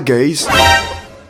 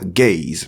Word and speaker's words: guys: il dira « Hi guys ». Là, il nous emmène très loin. Ce mot ne se prononce pas « gays », mais plutôt « guys ».